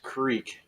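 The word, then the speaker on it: Kriek: am drinking a safest Creek in Creek is spelled kr iek sour sherry ale and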